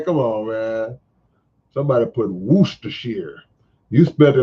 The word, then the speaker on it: Worcestershire: how you say it am i saying it wrong where's dear sheer nah man we say worship we say worcestershire down here now here